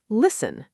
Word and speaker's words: listen: The t is completely silent. So, it's not listen, it's just listen with a soft s sound flowing right into the n.